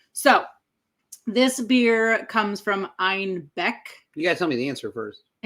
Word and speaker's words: Einbeck: When Munich started kind of experimenting with other breweries and other recipes, they mispronounced Einbeck as Einbach, which also means billy goat in German.